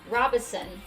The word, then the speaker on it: Robeson: And also, y'all, my mama was right. It is Robeson. Okay, I'm gonna stick with that. I wanna say it the way the locals say it.